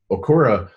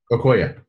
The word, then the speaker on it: Okoye: Okura says, I think I pronounced that right. The Wakanda lady. Okoye, thank you.